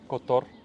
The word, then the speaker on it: Котор: Петровац, не Петровац, Луцинь, Котор, Подгорица, Колашин.